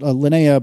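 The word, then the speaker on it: Linea: really really like lanaa I think that's how we they were we were told to pronounce it lanaa by our friends at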